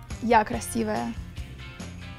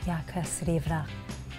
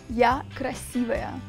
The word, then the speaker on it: Я красивая: You need to say, Я красивая. Я красивая. I said it wrong. Okay, say no, that. Sure, no. That's fine. Okay, tell me it one more time. Я красивая.